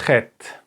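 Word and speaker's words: חית: The next letter is a little bit harder to pronounce. It's the Chet. Chet. Let me just write it down before I explain it. chet, chet. Okay, so how can you pronounce this letter? Because it's very hard for you as an English speaking person to pronounce it, because you don't have this letter in the language.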